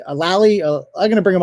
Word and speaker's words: Lally: named uh uh la i don't wanna mispronounce it but it's lily a lally uh i'm gonna bring him out right now